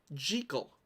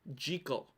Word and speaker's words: Jekyll: have such a nerd it's pronounced jiggle in scottish in scotland it's a scottish name a pretty common one still it's pronounced jiggle which is a major